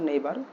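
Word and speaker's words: neighbour: তো ইউনিট সিক্সে আমরা দেখতে পাচ্ছি আওয়ার নেই আমাদের নেইবার নেইবার হচ্ছে সঠিক উচ্চারণ নেইবার আমাদের প্রতিবেশীরা থাকার কারণ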